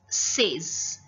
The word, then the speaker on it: seize: It's seize. Now children, see number 17. How is it pronounced in French?